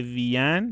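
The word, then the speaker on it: Wien: آوس دویچلند اوداشپانین اودا وین پس به وین وین اتریش پایتخت اتریش تو آلمانی ما میگیم وین وین نمیگیم میگه از آلمان اسپانیا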